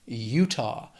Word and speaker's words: Utah: 2 syllables, stress is on that first syllable, Utah. After that is Vermont.